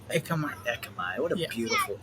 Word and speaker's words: Ekamai: Me and you like Akamai. How do you pronounce that? Ekamai. Ekamai.